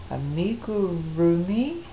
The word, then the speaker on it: amigurumi: It's called amigurumi, I believe it's pronounced.